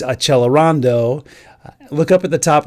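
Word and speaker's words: accelerando: Below the music you see it says second time a ce l and that looks like the word accelerate and in Italian it's achelando.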